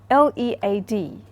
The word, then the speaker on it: lead: that are spelled the same but they are pronounced differently so for example L EAD that's a good example of a holograph you